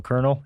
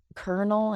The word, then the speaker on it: colonel: an eighth of a colonel in the podcast can we talk about kernel and how it's spelled and how it does not it should not be said Colonel it does hello like